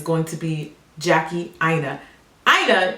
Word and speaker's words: Aina: to be Jackie aa aa is pronounced AA like it rhymes with China any questions C management